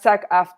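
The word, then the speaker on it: SAG-AFTRA: agency okay is that okay got it that's sack after that's what I means sack after okay it's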